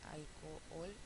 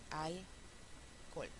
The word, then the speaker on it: alcohol: en la palabra alcohol una posibilidad sería alcohol Sí alcool alcool pero vimos en clase que podemos decir también alcol con lo cual nos ahorramos una sílaba Entonces vamos a practicar